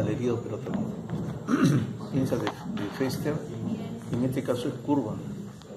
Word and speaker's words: Foerster: Y esta pinza de prensión y tracción es la pinza de Fester. Se escribe Foerster. Foerster. Se pronuncia Fester.